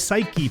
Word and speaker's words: psyche: our soul the Greek word for soul is psyche p-s-y-c-h-e suitcase what's how it's pronounced we want to feed our soul with